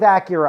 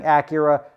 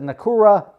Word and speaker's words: Acura: be pronouncing it wrong I'm just used to hearing Acura she calls it nakura and let's just leave